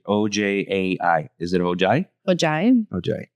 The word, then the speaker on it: Ojai: My pronunciation. Oj a i.